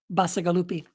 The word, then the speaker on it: Bacigalupi: How do I pronounce this guy's name? Paolo Bacigalupi.